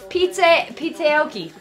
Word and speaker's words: Pizzaoki: Pizza Aoki. You have to say it like that really quick.